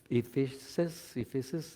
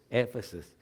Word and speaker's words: Éfeso: This is the Efesios, no, Éfesos.